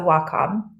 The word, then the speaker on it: Wacom: displays in the creative Community our name is pronounced W which means Harmony in Japanese and Comm is in computer so Wacom but we still answer to wcom or Wacom